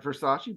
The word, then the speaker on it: Versace: We have our new coach, Adriano Versari, pronounced like Versace, but Versari, as he just told me how to pronounce it.